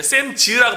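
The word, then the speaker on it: Sam's: 클럽이 있었는데 요즘 이렇게 샘스 클럽이라고도 얘기하기도 하는데 샘즈라고 발음될 것 같은데 그 샘스라고 발음하는 게 이곳 사람들이 그렇게 발음한다고 그렇게 얘기하면서 이제 앞으로 이제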